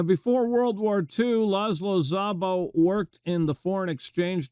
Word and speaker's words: Szabó: Joe who pronounced it Zabo he Americanized it but the Hungarian pronunciation would be Zabo of course E4 from